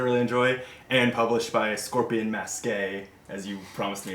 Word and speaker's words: Scorpion Masqué: Ghost Stories I really enjoy, and published by Scorpion Masqué, as you promised me it's pronounced.